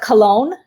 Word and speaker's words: Cologne: i learned something um we pronounce it cologne germany but it's spelled k-o-i-n if you put the two little dot things above it or whatever yeah that's what